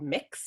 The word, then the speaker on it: Mx: gender encompassing honorific called mix so mx dot it's uh pronounced like mixing a bowl um so that's something